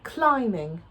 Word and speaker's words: climbing: The third one is climbing, with that silent B here after the M. Climbing.